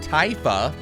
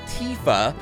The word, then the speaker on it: Tifa: that'll be like well her name isn't taifa her name is Tifa which is why instead of Titus it's Titus because it follows the trend of how they pronounce tifa's name foreign and then